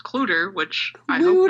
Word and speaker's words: Clutter: But on November 15th, 1959, the Clutter family, Clutter, as in there's lots of clutter on the desk? Yeah. Unless it's pronounced Cluter, which I hope not.